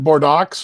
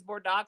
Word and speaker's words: Bordeaux: Isn't that Bordeaux or something? How it's spelled? No, that's what it looks like is Bordeaux, but it's Bordeaux.